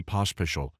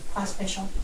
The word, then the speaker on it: Pospisil: Okay, if I don't want to insult you by saying it wrong, but Pospisil. Pospisil? Okay. Sounds like there's an H after the second S.